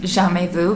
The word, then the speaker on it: Jamais Vu: Next is Jamais Vu, which I now know is pronounced Jamais Vu because I struggled to pronounce it last time.